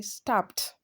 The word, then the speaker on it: stabbed: Stab ends with b, a voiced letter. So when you want to pronounce the past tense, you say stabbed.